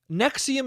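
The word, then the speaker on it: NXIVM: also nexium it's okay nexium is spelt n-e-x-i-u-m that's not how it's spelt it's spelt like n-x-v-u-m or something like that it's spelt not how it's pronounced at all and if that isn't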